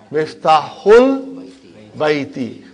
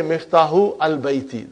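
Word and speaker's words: مفتاح البيت: Because al, remember that Hamza is Hamzatul Wasal. If it is in the middle somewhere, we assimilate it. We don't pronounce it. So you will say Miftahul Bayti. You cannot say Miftahu Al Bayti. That will be wrong.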